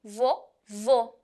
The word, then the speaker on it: vovô: E o acento circunflexo é usado para pronunciar sílabas mais fechadas. Por exemplo, vovô. Observem a diferença. O som é mais fechado.